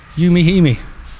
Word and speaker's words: Yumi Himi: I see, I was saying it wrong. It's four syllables. Yumi Himi.